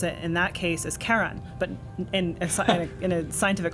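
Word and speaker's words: Charon: so um like I guess uh the community pronounces it Sharon after Charlene but it's officially named after um you know a mythological figure so and and the correct way to pronounce it in that case is Karan but in in a scientific conference you're not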